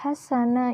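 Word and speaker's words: حسنا: Pada lafaz hasana ini merupakan mad iwad. Kenapa? Karena nun berharakat fathah tanwin dan diwaqaf. Cara membacanya, tanwinnya dihilangkan dan panjangnya 2 harokat.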